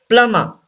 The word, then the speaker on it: plumber: Number 9, plumber. Plumber. We don't pronounce B and R.